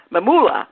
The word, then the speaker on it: Mamula: How you pronounce his name? Mamula.